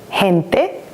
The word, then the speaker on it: gente: And it makes the H sound of the letter H in English when it's together with the soft vowels, like he, gente, he, gitana.